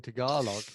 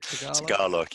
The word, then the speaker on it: Tagalog: So my Norfolk accent saying Tagalog, is that how you pronounce it? Tagalog, yeah.